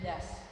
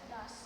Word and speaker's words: does: Jadi do ini berubah jadi Does. yes atau bacanya das. Does.